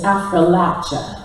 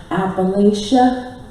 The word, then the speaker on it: Appalachia: And the effective pronunciation is Appalachia. And you can tell how many generations a family has been in the hills by the way they pronounce that word. You can also tell which part of the hills is their family origins. You get up into New York, you may hear Appalachia.